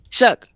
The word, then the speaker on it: Shough: And you're just going to be I can still say I don't believe in Tyler show. I can still say that. Okay. Shook. You should get it right.